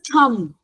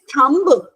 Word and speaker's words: thumb: You know, when M and B comes together, the B remains silent. So, we call it as a plumber. What is this? Everybody, what is this? It's a thumb.